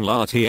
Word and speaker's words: La Tène: the Latin culture / LT n / French pronunciation Lahti and was a European Iron Age culture named